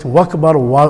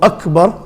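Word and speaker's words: أكبر: Allahu Akbar, some pronounce it Wakbar with a waw. Allahu Akbar, that's the correct way.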